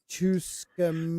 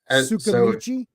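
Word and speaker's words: Tsukimichi: Chuscamichi. No, the T is silent, so you got to say it with a. Sukamichi.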